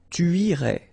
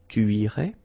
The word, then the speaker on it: tu irais: Tu irais. Same thing here, final S not pronounced. Tu irais.